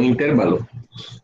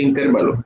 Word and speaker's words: intervalo: digo intervalo y no intervalo. Acá en la costa todo el mundo dice intervalo, pero esa palabra no es esdrújula, no lleva tilde en la E, se dice intervalo.